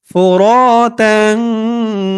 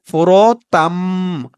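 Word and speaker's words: فُرَاتًا: দর্শক এখানে একটু খেয়াল করবেন, এখানে আমি প্রথমে বলেছিলাম ফোরতাং, উচ্চারণটা তাং হবে না, উচ্চারণটা হবে ফোরতাম, তাম হবে।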